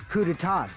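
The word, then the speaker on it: coups d'état: hearing that they're dangerous guys who are responsible for terrorism, coups d'etats, and wars.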